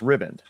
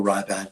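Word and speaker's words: Riband: So, but it's pronounced ribbon. Ribbon. Well, ribbon or ribband.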